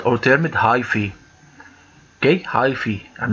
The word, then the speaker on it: hyphae: know that it is called alternate hyphae okay hyphy and not haifa so it's pronounced as hyphy and not haifa in biology